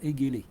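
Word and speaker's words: Haegele: qui s'appelle Vincent etgell moi je l'ai appelé Vincent égel apparemment faut prononcer Vincent Vincent éguell il est d'origine il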